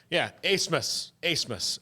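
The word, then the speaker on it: Abmas: Brett Favre before him, has convinced everybody to say his name a different way than it's spelled, and I respect that.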